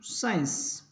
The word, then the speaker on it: science: उसके बाद अपने पढ़ेंगे SCIENCE, साइंस, विज्ञान।